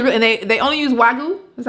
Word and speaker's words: wagyu: their food is really they they only use wagyu that's how you pronounce it yeah all right so let me